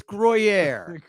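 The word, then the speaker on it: Gruyère: for me GR you it's grer it's gr it's a melting cheese you like your grilled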